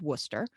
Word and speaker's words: Worcester: It's about 15 minutes west of Worcester, which is not pronounced anything like it looks like on paper.